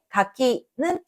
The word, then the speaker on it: 柿: vient avant se lit plus haut, et dans かき , qui signifie « kaki » , le qui vient après se lit plus haut.